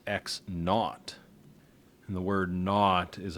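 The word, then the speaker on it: x₀: arbitrary position in space, the starting point is almost always indicated with an x and a subscript 0, pronounced x naught.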